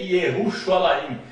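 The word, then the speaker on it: ירושלים: Portanto, o nome de Jerusalém no hebraico moderno é Ierushalaim. No hebraico arcaico é Yahushalaim.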